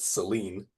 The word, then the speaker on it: Selene: It could also be related to, we would pronounce it Selene, but if you spell it out, it's kind of similar. Helen versus Selen.